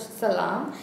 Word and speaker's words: Salaam: I did 3 rounds of salam. Is that the way to pronounce it?